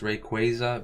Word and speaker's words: Rayquaza: By the way, it's Rayquaza because it's after a Quasar.